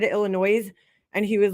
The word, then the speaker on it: Illinois: if anybody who said Illinois and he was like I don't know what's what do you New Yorkers the S is silent you know but people here always say Illinois like that's how you